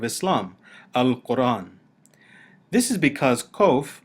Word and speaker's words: qoph: The letter Qoph is pronounced by many Hebrew speakers today like the letter K in king, or like the Hebrew letter Kaph with the dagesh. Originally, this letter would have sounded like the letter K if it were pronounced at the back of the throat, as in the Arabic